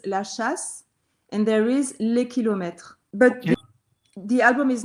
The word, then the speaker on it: Les Kilomètres: So your first album is called La Kilometers, right? And I'm probably mispronouncing the French, so please excuse me. So it's La Kilometer, right? How do you pronounce it in France? It's Les Kilomètres.